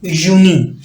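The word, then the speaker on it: Juni: य की आवाज दे रहा है तो बेसिकली यूनी कुछ स्टूडेंट जो यूनिवर्सिटी के अंदर पढ़ते हैं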